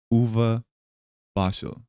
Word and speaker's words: Uwe Barschel: Um, I do have a little thing here, uh, just in case I get his name name wrong. Uvuva Bashel, right?